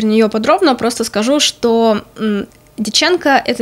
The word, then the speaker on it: Дьяченко: Я вернулась к фантастике, прочитала книгу Марины и Сергея Дьяченко, по-моему, так ставится ударение, под названием «Стократ».